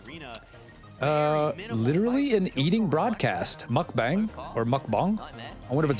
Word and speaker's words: mukbang: That's not how you say it. It is bang. Is it mukbang? I like the way bong sounds a little better, but it's probably bang. Mukbang.